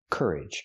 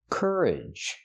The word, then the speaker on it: courage: Cur, courage. And the second syllable is closed also. Idge idge. Courage. Put the stress on the first syllable.